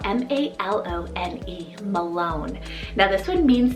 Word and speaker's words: Malone: heritage behind it so this is the name malone spell m-a-l-o-n-e malone now this one means descendant and in